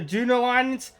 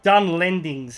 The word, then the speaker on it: Dunlendings: The new units will include the Dunlins, the Warbeast, the Hobbit Hunters, and the Brey Riders. Or the Dunlendings, if you want to pronounce it correctly, EJ.